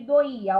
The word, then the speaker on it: doía: Então, separando aqui doía, ó, eu faço do, i, a. Observe que o i se separou. Eu tenho cada vogal na sua sílaba. Há um hiato.